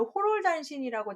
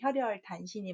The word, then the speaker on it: 혈혈단신: 우리가 보통 혼자 있는 사람들을 호롤단신이라고 잘못 발음하는데 혈혈단신이 맞습니다. 그때 혈혈 외롭게 홀몸이다 라고 할 때 호롤이 아니라 혈혈입니다.